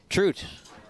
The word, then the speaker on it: Trout: how I always remember how Dave trout pronounces his name trude rhymes with loot with loot he does